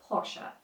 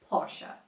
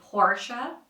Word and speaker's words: Porsche: in Germany the country of its origin is pronounced as Porsche Porsche and in the US they say Porsche or Porsche it's incorrect but if you're saying it this